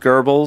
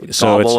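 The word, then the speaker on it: Goebbels: GBL anything down and he doesn't maybe know that pronounced gurbles so he's like Goble everything well but you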